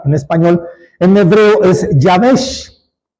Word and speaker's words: Jabes: escribe en hebreo javes Cómo se pronuncia se pronuncia yaves y significa seco o